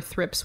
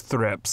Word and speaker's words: thrips: thrips wouldn't do that is it thrip or thrips it's thrips and I THS I have made that mistake before and you better believe someone had and thrips is spelled thrips singular and plural and I was as